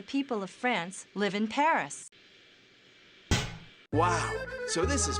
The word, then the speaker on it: Paris: 16% of the people of France live in Paris. Wow, so this is Paris. I can't believe that I've never visited the capital of France before. Yeah, well, the locals pronounce it Paris.